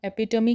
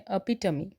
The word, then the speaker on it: epitome: EPITOME इसे हम एपिटमी कहते हैं, लेकिन वो सही नहीं होता। इसे हम कहते हैं अपिटमी।